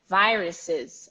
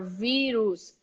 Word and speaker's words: virus: talking a lot about viruses around so it is not ver now it is VY the sound is VY and the U is not virus or veeru's uh uh virus virus